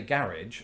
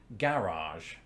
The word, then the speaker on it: garage: I happen to say garage, but some people would say garage.